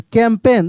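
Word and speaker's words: campaign: T next next कैंपेन यहां पे जी silent है कैंपेन देखिए बार-बार वर्ड मिल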